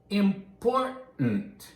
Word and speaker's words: important: So, what other words and phrases often get that glottal stop, that sound in American pronunciation? That's important, right? That's important, right? important.